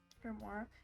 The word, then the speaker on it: grimoire: How do you pronounce O-I-R-R-E, though? War? Yeah, that's what I was confused about. It's a grimoire.